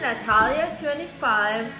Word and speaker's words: Natalia: It's actually Natalia25, but since a lot of people don't know how to really pronounce or spell my name because I have a silent J, I'm gonna write it down.